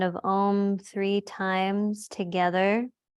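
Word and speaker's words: ॐ: chanting the sound of om three times together there's three syllables ah o and um with the lip sealed let's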